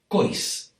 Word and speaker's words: coix: However, in this part of the País Valencià, near Castelló, a lot of people say cois and caixa.